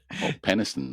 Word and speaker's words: Penistone: Penistone, or Penistone. It's spelled. It's not spelled like that. All right. Yes. Does it finish with town or just ton? Tone. Tone. Yeah, Tone. Tone.